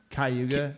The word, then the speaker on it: Cayuga: used to be unbelievable what okay Yuga yeah Cayuga there you go is it called Hey Yuga it's not pronounced I've never heard that in my life